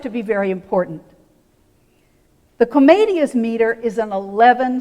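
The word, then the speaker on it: Commedia: Beatrice three in English Comedia four syllables in Italian comedy three syllables in English even the name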